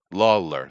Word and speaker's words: Lawler: know lawyer a law lawyer how do I pronounce his name Lawler Lawler thank you uh and uh Undertaker you know